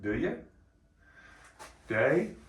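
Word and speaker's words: Deye: yes we have the the chinese pronounce it do you day inverter and so the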